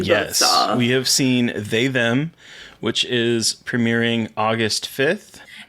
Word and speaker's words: They/Them: It's actually pronounced they/them. I got like 45 emails about it. It needs to be pronounced they/them for junket interviews. Yeah, like that's how you have to pronounce it in junket interviews.